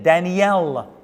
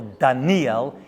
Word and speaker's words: Daniel: We're on the next part of our Decoding Daniel. And that's right pronunciation, by the way. It's not Daniel or Daniel. It's Daniel, actually, is the correct pronunciation, as I learned by going through this book.